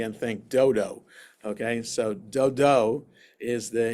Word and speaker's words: Dodo: Puah, the son of Dodo, a man of Yisachar. I said Dodo with that emphasis on that syllable, just so that we don't read it the English way and think dodo.